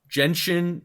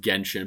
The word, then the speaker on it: Genshin: and the winner is jenshin impact oh i saw that clam and i was like no it was best mobile game too i was like um hello pronounced genshin but i mean again